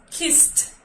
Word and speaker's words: kissed: Y kiss termina en S, y al agregar la ed, esa ed suena como una T.